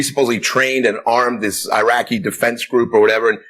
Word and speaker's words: Iraq: We never even pronounced the country right. I mean, we called it Iraq. It's not Iraq.